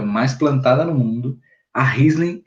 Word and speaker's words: Riesling: Essa já é de origem francesa, e aí o nome muda um pouquinho. Percebam que é Chardonnay, Sauvignon Blanc, a gente muda para Riesling, uma pronúncia alemã, tá?